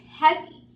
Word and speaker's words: heavy: heavy like heavy right I cannot say Eddie I don't say this box is heavy I say this box is heavy heavy alright when it has